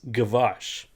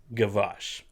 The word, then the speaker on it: Gwozdz: And his last name is Gwozdz, but I think it's pronounced, and please correct me, I think it's Gavash. Wait a second. Gwozdz. Yes, that's not a typo. That's how he spells it, but I'm pretty sure it's pronounced Gavash.